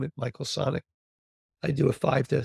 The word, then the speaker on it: Sonick: last name is spelled s o n i c k Sonic like Sonic the Hedgehog or the restaurant chain or like a sonic boom with a K on the end a CK on the end go to Michael sonic.